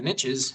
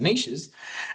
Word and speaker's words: niches: And, you know, I've always heard the saying, you know, riches are in the niches, even though you should should pronounce it niches.